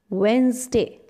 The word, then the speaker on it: Wednesday: days of the week this is not wednesday we call it wednesday it's wednesday my birthday